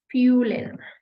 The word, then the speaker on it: fühlen: Zum Beispiel, and it's a very short U. It's not a dragged on, it's not EU, it's just U. Zum Beispiel, fühlen.